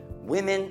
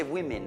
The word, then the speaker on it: women: Women at work. Donne, immagina questa parola qua, scriviamola in italiano. Immagina se women aveva due i, U-I, M-I-N. Women, sarebbe women. Perfect pronunciation, ok? Non women, no, women.